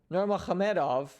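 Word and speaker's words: Nurmagomedov: the highlight gaichi versus habib the eagle norma khamedov and yes that is the proper pronunciation of both his first and last name so super excited to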